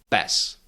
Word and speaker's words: pes: That doesn't happen in Czech. So in Czech you say pes, tempo, káva. There's no aspiration in those consonants.